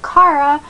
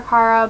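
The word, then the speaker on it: Cara: And so Kara, I don't know if it's Kara or Kara, but it's spelled C-A-R-A, and I had a friend with that spelling that said Kara, so I'm saying Kara, is a human, and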